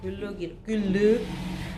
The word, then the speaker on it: Glögg: 글루기 발음이 꼭 잘못하면 양파로 되는데. 자, 글루기라고.